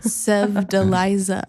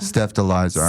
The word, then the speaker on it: Sevdaliza: Sev Deliza. Steph Deliza.